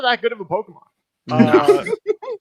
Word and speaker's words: Pokémon: Uh, first of all, Pokemon is how it's pronounced.